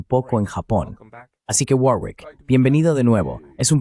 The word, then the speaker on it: Warwick: Los ingleses lo pronuncian con una huevo muda en medio y los estadounidenses tienden a pronunciar la bow explícitamente, lo cual, por supuesto,